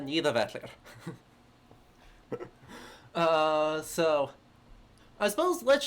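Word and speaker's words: Niðavellir: are picking up in what atrey is incorrectly um pronounces as nitivalir and everyone else more correctly calls uh neither vetler uh so I suppose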